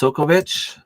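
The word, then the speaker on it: Sobkowiak: farming Quebec's defense sovic so that's how it's pronounced sovich uh from what I can see here it's s o b k o w i a k but it is Miracle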